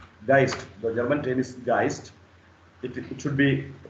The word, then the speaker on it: Geist: Geist, the German term is Geist. It should be pronounced as Geist.